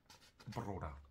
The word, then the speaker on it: broda: Ne, das R mit Br. Broda.